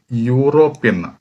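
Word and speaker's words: European: നമ്മൾ നോക്കുമ്പോൾ ആദ്യത്തത് ഇ ആണെങ്കിലും ഞാൻ നേരത്തെ പറഞ്ഞു സ്പെല്ലിം നോക്കിയല്ല പറയേണ്ടത് ഉച്ചാരണം ഉച്ചാരണം വരുന്ന സമയം ഇവിടെ യൂറോപ്യൻ എ യൂറോപ്യൻ യു എന്നാണ് പറഞ്ഞത് യു അപ് യ എന്ന് പറ കോൺസനന്റ് ആണ് അങ്ങനെ സമയത്ത് നമ്മൾ എ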